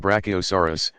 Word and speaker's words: Brachiosaurus: be called brontosaurus and Brachiosaurus pronounced brachio s.a.w are us which weighed around 80